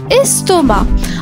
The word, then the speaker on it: estomac: La lettre muette. Le c à la fin, estomac.